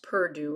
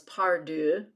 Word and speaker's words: Pardue: I find it interesting on my daddy's side, the King side of the family and the Pardue, it's pronounced Purdue right now, but it was Pardue.